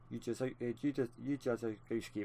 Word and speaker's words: Ujadowski: The U is not silent as I thought, so Ujadowski, that's even more of a tongue twister for me.